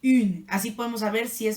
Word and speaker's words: une: Después tenemos el femenino singular, a este se va a pronunciar une, con U francesa, acuérdense, lengua pegado a los dientes de abajo, une.